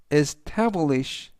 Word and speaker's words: establish: 뜻이 되겠습니다 이번 단어는 establish establish establish라고 발음하시면 되겠고요 이때 강세는 t 뒤에 있는 a 강세가 있습니다 그래서 establish라고 발음하시면 좋겠고요